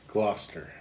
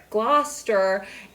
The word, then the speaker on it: Gloucester: Gloucester Gloucester is played by Jim Broadbent.